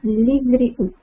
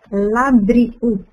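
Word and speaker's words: לבריאות: Labriut. Uhum. Todo mundo fala labriut. Labriut. Mas o correto, o jeito certo de falar a palavra é livriut.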